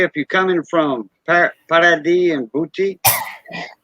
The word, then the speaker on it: Paradis: And I think it's before, like, say, if you're coming from Paradis and Boutique, Paradis, they call it, it's spelled paradise without the E. Paradis in French.